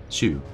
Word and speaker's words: Xu: Xu. Yeah, it's SH, basically.